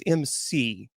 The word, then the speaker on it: McLeod: His last name is McLeod, but it's pronounced McLeod, and it's called Dark Siege, Connecticut's Nightmare and a Return.